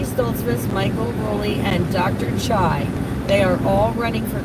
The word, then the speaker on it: Tsai: it was Reggie stsi Michael Ry and Dr chai that are all running for congress uh if